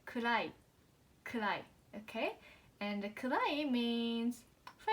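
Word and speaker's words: 暗い: And it's not cry. In an English word, we say kurai, okay?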